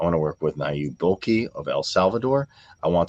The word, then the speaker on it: Bukele: So you said Nayib Bukele? I think that's how you say his name in El Salvador? Yes. Bukele?